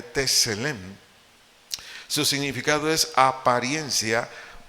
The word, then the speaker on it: Tselem: Entonces, dice aquí Génesis 1:27 que Dios nos creó a su imagen, la palabra imagen del vocablo hebreo, Tselem, S-E-L-E-M, acento en la primera E, Tselem.